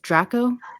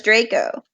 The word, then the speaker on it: Draco: the correct pronunciation is draco everyone says draco they're wrong it's the latin word for dragon as in the hogwarts